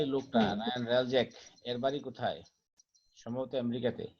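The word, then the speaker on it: Hreljac: Ryan রালজ্যাক। Ryan রালজ্যাক। হুম, মানে এইচ in উচ্চারণ হবে না 1990 আর কি, H will be silent. G স্যার। In 1998, 6-year-old Ryan Relzek was shocked to learn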